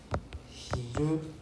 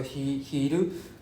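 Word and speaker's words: 昼: Right, to give you another one, for example, hiru. Right? So hiru. So this is going up, right? Hiru.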